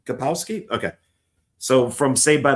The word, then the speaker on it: Kapowski: How do you pronounce her last name? Kapowski.